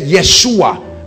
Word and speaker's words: Yeshua: means God our salvation that's where they get Yeshua because they pronounce y for Jay Yeshua that's why you see